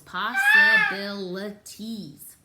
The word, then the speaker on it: possibilities: in here called possibilities possibilities say that it has a lot of syllables possibilities five syllables in there possibilities is when when